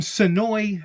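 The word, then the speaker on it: Senoia: For my buddy Terry Hooks, he's from Sonoy, Georgia. Now, I had to look up how to pronounce Sonoy because the A is silent, and I am a king of mispronunciation.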